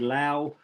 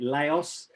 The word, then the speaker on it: Laos: really up to you the french generally are the ones that said that said lao uh president nixon famously and incorrectly pronounced it laos as he tried to